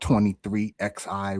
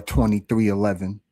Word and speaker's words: 23XI: So I just thought, for those who don't know, Jordan's team is called 23XI Racing, or 2311, if you want to, pronounce the Roman numeral.